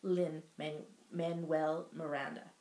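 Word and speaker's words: Lin-Manuel Miranda: the the inspiration for the Hamilton musical by Lynn man Manuel Miranda did I say it right yes okay go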